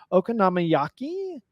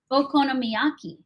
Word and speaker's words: okonomiyaki: my best shot I was drawn to the okon namaki okaki yeah say it okonomiyaki okonomiyaki uh and which one I have the